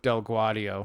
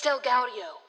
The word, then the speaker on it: DelGaudio: finish it for me i'm gonna go with del guardio that's it thank you no that's not it it's delgaudio binge binge binge i